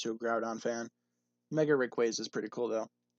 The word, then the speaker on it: Rayquaza: Mega Rayquaza is pretty cool, though. Is it Rayquaza or Rayquaza? I've heard it pronounced both different ways. I think officially it's Rayquaza, but a lot of people call it Rayquaza.